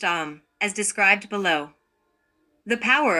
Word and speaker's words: Aum: Aum is esoterically pronounced Aum, as described below.